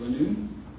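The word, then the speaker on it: Lanoue: Next we have, is it Lanu? State your name and spell it for the court reporter. Hi, my name is Lanu.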